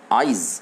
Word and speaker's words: eyes: So if I want to say that I like your eyes, so I should stress on the last word as a z, eyes.